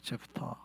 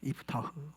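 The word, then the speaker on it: יפתח: 근데 히브리어로는 원래 입다의 히브리어 발음은 이프타흐입니다. 이프타흐. 더 다르죠. 이것도 좀 다르죠. 우리말로는 입다라고 그러지만 히브리 말로는 이프타흐입니다.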